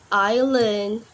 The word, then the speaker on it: island: letter is letter S letter s um can be silent in the word like Island Isle we not pronounce letter s the next letter is